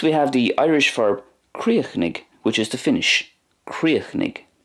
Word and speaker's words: Críochnaigh: So I'm pronouncing it the way it's pronounced in Munster, Críochnaigh. In Connacht then we have more of a silence at the end of that word. It goes like this, Críochnaigh, Críochnaigh. And in Ulster, Críochnaigh, Críochnaigh.